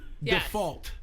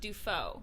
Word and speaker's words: Dufault: Uh and so it's Lauren default. Actually, it's pronounced defo.